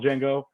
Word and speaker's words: Django: him in the original Django uh at the bar ah that's the jingle with a d yeah I know right and two of them at the bar the g is silent the g is silent